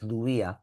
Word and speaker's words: Louis: This one is pronounced as Louis. Louis Vuitton.